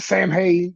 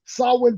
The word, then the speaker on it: Samhain: got uh we've got the Sam hay Sam Wayne I can't say it I can't pronounce it either I'm terrified to it saw saw Wayne I believe saw saw win is what it was there it is saw win pay-per-view uh October